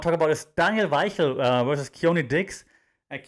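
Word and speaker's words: Weichel: 14-12 and yes yes you pronounce it vai hill uh because he's from germany so how can i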